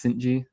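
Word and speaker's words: Cijntje: I believe it's Durangelo Cinti. I think it's Cinti.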